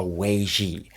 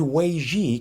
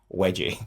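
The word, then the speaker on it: 危机: Forgive my Chinese pronunciation and interpretation, but the word Wēijī can be translated as the word crisis. Now, when I first tried explaining this to my kids, they got it immediately because I mispronounced it as wedgie.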